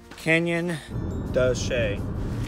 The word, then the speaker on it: Canyon de Chelly: That's not how you pronounce the name of the canyon. The canyon's name is Canyon de Chelly.